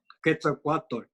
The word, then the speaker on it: Quetzalcoatl: Quetzalcoatl. Yeah. That's how you say it. Yeah. I might And not that's even be pronouncing it right, but yeah, it's uh, and